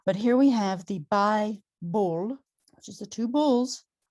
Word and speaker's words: bi-bull: It's bi-bull, two bulls, two syllables.